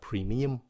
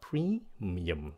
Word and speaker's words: premium: Mình nghe nhiều bạn phát âm cái chữ này là premium, không phải là premium. Nó là premium. Các bạn nhấn âm đầu xong rồi xuống giọng.